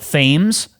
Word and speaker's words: Thames: It's spelt Thames. It's pronounced Thames, okay?